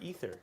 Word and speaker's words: ether: Is that is that aether or ether? Ether. Okay, I did say it right.